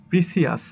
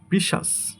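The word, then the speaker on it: precious: এরপর এটাকে আমরা বলি প্রিসিয়াস, বাট এটা সঠিক উচ্চারণ হবে প্রিশাস। প্রিশাস, প্রিশাস।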